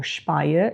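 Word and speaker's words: Speyer: is nearly 1,600 years old and that's the Spire wine bottle or spay if you pronounce it right uh which is the wine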